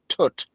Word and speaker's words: twt: it's its initials but twt actually is a word in Welsh it's pronounced Tut and it means crap